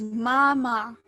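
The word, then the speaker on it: 妈妈: again oh yeah so this is mama and it has the first tone of pronunciation so first tone is like completely flat kind of monotone so mama um there's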